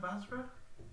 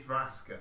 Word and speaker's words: Vraska: Vasra? Is it Vasra or Vraska? Or... Vraska. It is Vraska because I keep pronouncing your name incorrect.